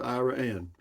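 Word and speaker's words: Iraan: that pronounced IRA and yeah it is it's pronounced Iran because it was named after I want to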